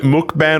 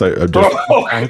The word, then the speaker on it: mukbang: Bung like bong as in bong. So if you were to spell phonetically for me, that would be b like a O. Like an O. Oh, bong. Okay. Mukbang.